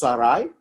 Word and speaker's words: Sarai: And that's how it's pronounced, it's Saray.